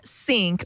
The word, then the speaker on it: Cynk: explain this story yes it's called sync or pronounced Sync It's been traded under the ticker symbol c y n k and um the SEC